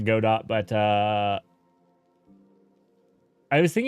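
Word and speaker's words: Godot: God do um or some people pronounce it gdo I pronounce it God do but uh I was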